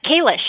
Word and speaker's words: Kish: Is it the Kish Institute or Kish? Uh Kish. Yeah.